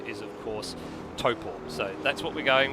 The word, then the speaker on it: Taupo: Yeah, a lot of people are looking at thinking it's Tau, because T-A-U sort of has an ow sound, but no, far from it.